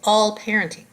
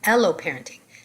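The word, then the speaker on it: alloparenting: amount of what's called all parenting that's yeah i said it wrong aloe parenting aloe is deprived from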